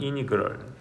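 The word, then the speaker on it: integral: 이거를 이제 읽어 주기로는 뭐라고 읽어 주냐면 인테그랄 거죠. 인테그럴 이게 인테그럴 인테그럴 미국식반으로는 이니그럴 이렇게 한게 이니그럴 하지만 선생님은 한국 사람이라서 인테그랄 이렇게 표현할 거예요.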